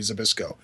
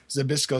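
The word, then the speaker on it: Zbyszko: Bruno S Martino and Larry zabis zabis spelled zybs c KO well actually close enough actually I think it's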